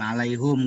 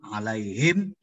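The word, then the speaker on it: عليهم: Bukan alaihum gambreng tapi yang betul alaihim gambreng. Paling dia bingung. Kenapa bang kok alaihim? Itu majrur itu. Ada huruf jar tuh harus majrur bacanya.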